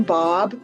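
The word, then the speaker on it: Baab: together my name's bob people always wonder how to pronounce my last name but it rhymes with saab cars so that's a good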